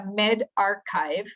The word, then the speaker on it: medRxiv: Algo que es sumamente nuevo es este sistema de preprint, que no sé si han visto, esto es MedRxiv, que se pronuncia medRxiv, ¿verdad? Archivo médico, o bioRxiv.